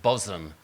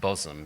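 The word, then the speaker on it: Bosham: we went is a is a town called bosom it's spelt bostom but pronounced bosom because that's how we are in the south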